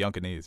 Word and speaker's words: Yunkanese: I'm here live at Yunkai here, and the Yunkanese have... Is that how you say it? Yeah, the Yunkanese.